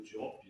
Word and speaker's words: Diop: Ele é um filósofo eh senegalês, Diopa ou Diop, né? Fala português. Então, tradução, a pronúncia mais correta seria Diop.